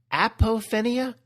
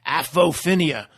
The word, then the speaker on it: apophenia: see things it's called i never pronounce it right apophenia yeah for for like four videos i'm going afophenia like it like it's like alpo alpofinia like it's dog food or something apo apophinia better